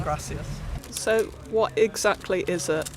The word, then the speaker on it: gracias: yeah definitely so they they tend to drop constantly yeah and words so say grassy rather than gracias so what exactly is